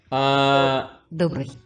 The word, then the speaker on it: Добрый: How do I even begin to pronounce this? Добрый.